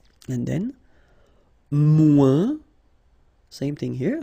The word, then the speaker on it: moins: And then, moins, same thing here. Remember, we don't pronounce the final S. Then you put the adjective que, then, and the rest of the sentence. Okay? Elle est moins rapide que moi.